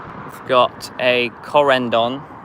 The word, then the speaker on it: Corendon: We've got a Corendon. Yeah, Corendon, that's how you say it.